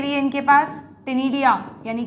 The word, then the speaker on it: ctenidia: अगर ध्यान रख सको तो फेदर गिल का एक नाम और होता है बच्चों, टिनिडिया, सी साइलेंट है, टिनिडिया, CTENIDIA, टिनिडिया, ओके।